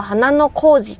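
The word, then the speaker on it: 花の小路: 花氷または花の小路と読むことが多いです。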